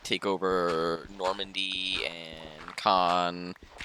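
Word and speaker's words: Caen: like take over Normandy con and yes I'm fixed my pronunciation I now know it's not cane oh I still really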